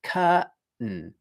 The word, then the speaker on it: curtain: So similarly with curtain, what I'm doing is I'm taking that t sound, which was at the beginning of the second syllable, curtain, and I'm moving it to the end of the first syllable. And then for the second syllable, I'm not doing any vowel. There's no vowel. It's just n. So it's curtain, like that, curtain.